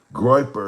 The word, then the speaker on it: Goyper: Goyper. If you don't know what a Goyper is, these two in the MAGA, they're two right, quote unquote, right wing groups.